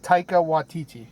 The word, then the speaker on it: Taika Waititi: I forget how to pronounce it already. You tell me. Taika Waititi.